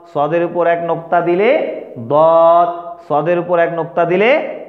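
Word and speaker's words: ضاد: লিখলা উপরে একটা শুধু নুকতা বাড়ায় দাও, এটা দদ হয়ে যাবে, কী হয়ে যাবে, খুব সহজ না, সোয়াদের উপরে একটা নুকতা বাড়ায় দিলে কি হয়ে যাবে, দদ হয়ে যাবে। তাহলে উচ্চারণ করো আমার সাথে, দদ দদ, ওটা সোয়াদ, এটা দদ দদ দদ, স্লেট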